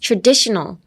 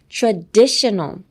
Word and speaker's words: traditional: Next, traditional. Traditional. Traditional. Emphasis on the DI.